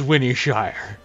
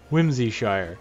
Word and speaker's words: Whimsyshire: This is Winnyshire. Whimsyshire. Whimsyshire. I said it wrong.